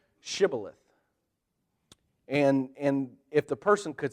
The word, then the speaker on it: Shibboleth: The problem was an Ephraimite, someone from Ephraim, could not say an SH. And so when they would say to them, say Shibboleth, an Ephraimite would say Sibboleth. They couldn't pronounce that SH.